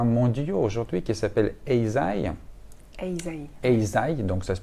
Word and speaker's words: Eisai: Eisai, donc ça se prononce comme ça.